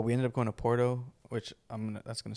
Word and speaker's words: Porto: Porto, Yeah, but I don't know how to not say it like that. roll your tongue, bitch. I don't think you rolled R.